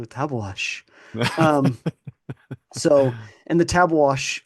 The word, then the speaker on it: Tabeguache: learned in researching this if you go to the Wikipedia page for tabash Peak it's got the little pronunciation thing there yeah yeah icon there yeah it's a little icon you could click on it and hear some guy go tabash um so and the